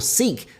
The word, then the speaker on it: Sikh: And it's down to how you pronounce sik as North America does or seek as we pronounce it here in the UK.